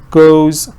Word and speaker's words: goes: talk about go yeah when you add s to go it's right that you I mean the spelling is es right but the pronunciation is still one syllable so I put it